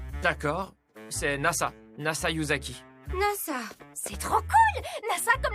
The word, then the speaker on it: Nasa: c'est NASA NASA yuzaki NASA c'est trop cool NASA comme l'agence spatiale pas tout à fait ça se lit NASA mais ça s'écrit avec les kanji du ciel étoilé je comprends mieux c'est